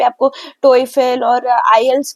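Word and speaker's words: IELTS: exam होता है और आईल्स आईलेट आयलेट बोलते बट इसको पढ़ना चाहिए आईल्स टी साइलेंट होता है ठीक है तो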